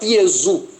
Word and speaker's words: Iesu: Se você for para o latim, no latim se fala Iesu. No latim não se fala Jesus. Se você for para o grego, também é Iesu. Iesu é uma transliteração de Yeshua.